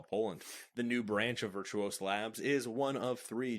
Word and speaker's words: Virtuos: four development service provider virtuous no that's not virtuous I kind of pronounce it virtuous I guess you could say it's virtuos yeah we're gonna go with virtuos has announced the launch